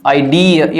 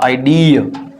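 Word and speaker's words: idea: एन पी एन आईडी ये बहुत गलत करते हो तुम लोग तुम लोग इसको हिंदी में भी इस तरह से लिखते हो ना आईडिया गलत है ये इसको हिंदी में भी इस तरह से लिखा जाता है आईडी अब पढ़ो इसको आईडी इटस न आडिया आटन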